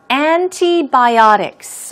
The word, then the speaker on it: antibiotics: of antibiotics or growth hormones okay what about antibiotics antibiotics often pronounced as antibiotics the te is hardly heard